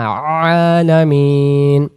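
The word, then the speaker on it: العالمين: রাব্বিল বলবো না রব্বিল আর এখানে আলামিন যেহেতু এখানে আইন অক্ষর হালকা গলায় চাপ লাগবে আলামিন আর যদি পড়ি আলামিন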